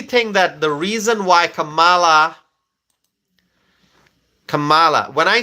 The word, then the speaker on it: Kamala: writing the pronunciation of Kamala it it is Kamala that's how you pronounce it Kamala I know she does it differently but I say Kamala ala Camala Harris I I think I should